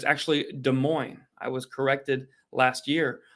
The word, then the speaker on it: Des Moines: to continue the sellout success because we have Des Moines is how some people pronounce it but it's actually Des Moines I was corrected last year on that Sacramento